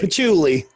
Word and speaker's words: patchouli: long yeah like me said uh but put pat choli and musk are in the air am i pronouncing that right patchouli patchouli okay i was like that it's that